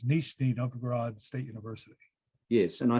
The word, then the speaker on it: Nizhny Novgorod: And you're a visiting professor, and I'm not going to try and pronounce it in Russia. What is the? Well, I will butcher it too. It's Nizhny Novgorod State University.